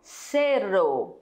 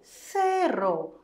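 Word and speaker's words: cero: Cerro. Cerro. Com la C e não com Z. E com la R vibrante, não é? Sim, sempre vibrante.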